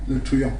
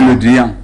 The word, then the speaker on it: Le Drian: Le Truand. Le Truand, oh, ok. Jean-Yves Le Drian, s'il vous plaît. Ah, ok, c'est Le Drian.